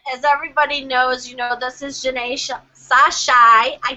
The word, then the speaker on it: Jeané Sashi: Well, I'm glad you got in, and as everybody knows, this is Janae Sashai.